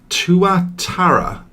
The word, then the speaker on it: tuatara: the evening this is the tua tara tuatara i think that's how they pronounce it from new zealand and it does indeed